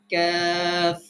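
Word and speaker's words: كاف: আমরা কাফ বলি, সঠিক উচ্চারণ হচ্ছে ক্যাফ।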